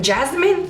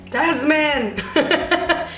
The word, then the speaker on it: Desmond: Desmond, I have no idea how you say it in Spanish, but I know that my family calls it Jasmine. I'm like, no, Desmond.